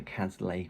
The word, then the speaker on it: Cazalet: her series called The Cazalet Chronicles, or The Cazalet Chronicles, as some people say, but I pronounce it in a sort of Essex way.